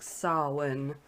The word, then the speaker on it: Samhain: lore and legends or samhain or if we're really woke and we know how to say it properly it's literally gaelic so it's pronounced something like sawin which okay i'll leave